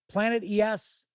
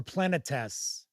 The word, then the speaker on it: Planetes: My favorite anime of all time and it's I've heard it pronounced a couple of different ways. Planet ES or Planetess.